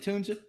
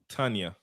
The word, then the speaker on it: Tanya: Is it Tunja? Tanya. Tanya? Oh, like Tanya. Bad. It's like Tanya, but with like a more of an sounding.